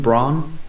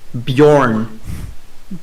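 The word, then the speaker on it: Björn: Repeat after me. Bjorn. Bjorn. Oh, the pronunciation. Bjorn. Well, Braun's a lot easier to say than Bjorn. That's not his name though.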